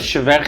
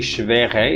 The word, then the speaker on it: schwer: The word schwere in German means difficult. Ja, schwere. It's not actually schwere, it's schwer.